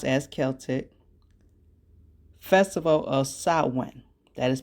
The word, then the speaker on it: Celtic: The tradition originated with the ancient Celtic, and it is pronounced as Celtic, festival of Samhain.